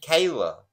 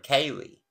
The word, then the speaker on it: Kaylee: names of the victims three times he said Kayla instead of Kaylee and then when he